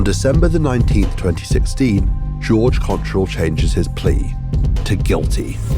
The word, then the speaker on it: Cottrell: And that is pronounced Cottrell? Yes, that's right.